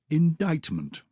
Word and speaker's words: indictment: hear that can you c indictment muscle silence indictment by the way remember it's related to dictation because it's all about telling people dictionary dictator all of that indictment that's why there's a c there handkerchief yeah is there